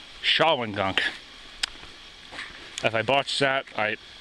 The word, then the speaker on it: Shawangunk: apparently I made an error in pronunciation it's pronounced shaan Gunk if I botch that I quit anyway down the shawing gong rid Trail we go how dope is this